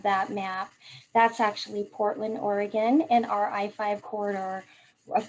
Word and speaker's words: Oregon: So a little information on the state of Oregon for comparison, and our state is actually pronounced Oregon, not Oregon, like it is spelled.